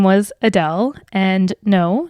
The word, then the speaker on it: Adel: my mom's name was adele and no not like the singer adele i mean pronounced the same way spelled differently there is no e on the end um my mom was